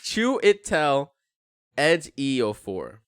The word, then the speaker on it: Chiwetel Ejiofor: Pronounce that. Chiwetel Ejiofor?